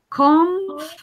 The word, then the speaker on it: comfortable: Comfortable. Only three syllables. Comfortable.